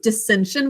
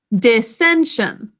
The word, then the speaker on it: dissension: fight would you say dissension with me dissension three syllables again tricia is it with me dissension three syllables first syllable and then we're gonna add us there to keep the vowel short dis next syllable three